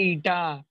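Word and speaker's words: eta: एन नहीं है बच्चा, ईटा है. ईटा है, ईटा. कैसे प्रोनाउंस करते सर उसको? ईट पत्थर, ईटा.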